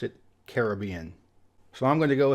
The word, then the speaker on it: Caribbean: single person on every single Island we've met pronounced it Caribbean so I'm going to go ahead and go with the locals on this one and it's Caribbean here's one that I think a good majority